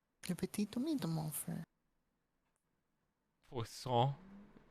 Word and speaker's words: poisson: Poisson rhymes with sing song.